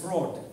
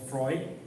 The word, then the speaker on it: Freud: I came to the church and I found that they pronounce Freud as fraud. And Jung as junk.